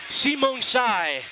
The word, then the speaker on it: Symeuangxay: of North Carolina and given the spelling of his last name I had to get confirmation on the pronunciation simong Sai is how you say it we're just going to